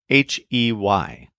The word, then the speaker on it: hey: It's spelled H-E-Y, but with a silent H.